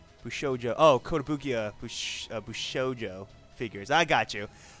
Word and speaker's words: Kotobukiya: thank you for the subscription you mostly collect Kota Boosh who showed you Oh Kotobukiya BuChE BuChE Oh Joe figures I got you